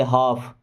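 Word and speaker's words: half: Give me हाफ, give means होता है दो, मी मीन्स मुझे, हाफ देखिए यहाँ पे एल साइलेंट है ना, हाफ नहीं पढ़ते, हाफ। Give me हाफ means मुझे आधा दो, गिव मी हाफ मुझे आधा दो।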